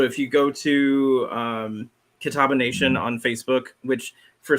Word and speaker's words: Catawba: announced um so if you go to um Catawba Nation on Facebook which for some reason we're